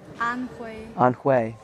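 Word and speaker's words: Anhui: that province a n hu I hunt way on way UI is like a on way like the ethnic minority hu is way way way on play on play on play so Feng yang on way Chou mausoleum uh let's see Zhu yo you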